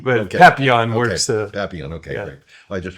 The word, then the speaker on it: Papillon: Yeah, the emphasis on papi, but okay. Papillon works. Papillon, okay, yeah.